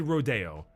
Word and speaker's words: Rodeo Drive: Hills called Rodeo Drive it's spelled rodo but it said Rodeo don't